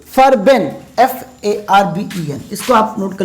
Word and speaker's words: Farben: तो इसको मैं लिख लेता हूँ, इसकी स्पेलिंग होगी, एक जर्मन शब्द है ये फर्बेन, FARBEN, इसको आप नोट कर लीजिएगा।